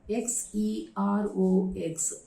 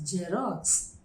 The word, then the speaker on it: Xerox: where the first word x e r o x that is actually xerox xerox but in tamil nadu the transliterated form of this word is given as jerox jerox look at the